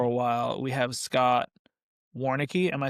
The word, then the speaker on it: Warneke: We have Scott Warneke. Am I saying it correctly? You got it. Warneke.